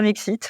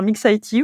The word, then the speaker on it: MiXiT: Alors, vous avez le droit de dire Mixit, vous avez le droit de dire Mixit, vous avez le droit de dire Mixité.